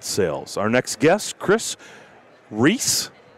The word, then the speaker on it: Reis: chevy business elite sales our next guest chris reese right so i know people probably butcher your name oh they butchered chris reyes chris you name it i nailed it you